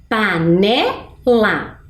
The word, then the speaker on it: panela: vai ficar mais forte quando eu pronuncio panela eu até dei né uma pista não tem acento mas a sonoridade é mais forte na sílaba ne panela e olha lá a